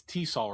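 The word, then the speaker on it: TESOL: Um that's that's really interesting because like all the it's Tissaw, right? That's how you say it.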